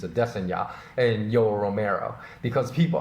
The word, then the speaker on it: Adesanya: But the fight I'm going to talk about right now is Izzy Adesanya, although many people say Adesanya, but apparently the correct way to pronounce his name is Adesanya, and Yoel Romero, because people highly criticize that fight for lack of action.